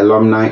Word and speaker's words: alumni: of ghana or i can say all the alumni of the university of ghana have come to